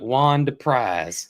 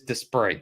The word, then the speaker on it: Desprez: Like Juan Desprez, which is spelled Deprise. That's if it was me, I would call it Juan Deprise. Juan Deprise. Mm-hmm. But it is Desprez. You heard him say it.